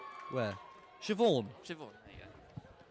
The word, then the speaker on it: Siobhan: I have no idea how to pronounce that name. Where? Siobhan.